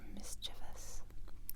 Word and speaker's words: mischievous: Oh, my dog is so mischievous. These children are so mischievous. C'est un mot super mimi. C'est un mot, c'est pas comme malin, c'est plus aimable comme un mot. Mischievous, 3 syllabes.